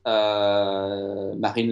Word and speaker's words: Marine: but his daughter, whose name I guess is pronounced Marine.